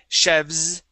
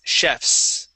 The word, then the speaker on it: chefs: okay Chef chefs okay it wouldn't be chevs okay it's chefs with that voiceless s okay so if we